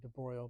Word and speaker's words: de Broglie: calculate and I should be a professional and pronounce it properly, de Broglie, but I mean, written de Broglie.